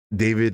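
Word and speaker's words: D4vd: Uh so so David the singer uh so his name is spelled D4 VD.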